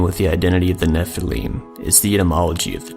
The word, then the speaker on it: nephilim: a scribal gloss indicating the base word of nephilim was originally pronounced with a long e this means of the